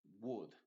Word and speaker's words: would: Y por cierto, la L en el would no se dice would. Ahí básicamente la L es muda, así que no lo tienes que pronunciar. Y diríamos would.